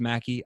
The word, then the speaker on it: McKie: It's pronounced McKie, but it's spelled McKie, pronounced Mackie.